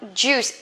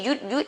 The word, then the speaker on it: juice: In this one, juice. Don't say yud, okay? This is J, so we have to pronounce J. Juice.